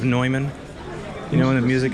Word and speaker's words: Neumann: I feel like one of those noobs that says Newman instead of Neumann.